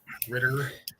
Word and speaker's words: Ritter: it's alright what dder ritter not richter yeah yeah it is